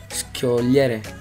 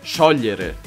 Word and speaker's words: sciogliere: And how you pronounce it? Schiogliere. And it is actually sciogliere.